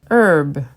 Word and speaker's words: herb: vase vase herb herb the H is silent in this word herb cinnamon cinnamon drama drama